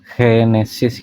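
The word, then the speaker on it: Génesis: Nah, ini untuk ee kitab yang pertamanya, kitab Genesis atau kalau di bahasa Spanyol tuh G itu dibacanya kayak henesis gitu ya, henesis.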